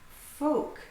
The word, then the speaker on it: folk: So these ones have L missing from their pronunciation. The L, calm. He's a very calm person. Calm. He's not hectic or chaotic, he's calm. Folk, it's the people.